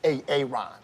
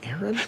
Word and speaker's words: Aaron: you say it the first time i said ay-ay-ron because it's pronounced aaron you don't know stopping any wrongs in those